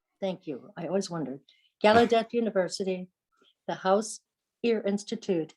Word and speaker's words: Gallaudet: you say that thank you i always wondered gallaudet university the house ear institute and the university